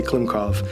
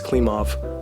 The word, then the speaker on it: Klimov: uh ellen klim klimov i always want to say klimkov uh but it's klim off or somebody cracked me